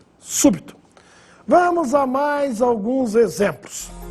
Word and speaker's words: súbito: E a última, súbito, aí a sílaba tônica é a antepenúltima, su, e também recebe acento agudo no U, súbito.